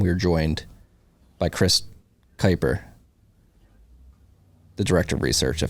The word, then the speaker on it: Kuiper: And we were joined by Chris Kyper, the director of research at Fidelity Digital Assets. I paused there because Chris, I asked how to pronounce your name before, and he said it's Kyper, like diaper, and I almost said Chris Diaper.